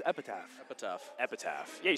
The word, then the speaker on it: Epitaph: Wait, how do you pronounce Epitaph? Epitaph.